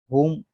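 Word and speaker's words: whom: मतलब मतलब अ कि होम होम कहता है किसके साथ कि इस में डब्लू साइलेंट बूम किसके साथ और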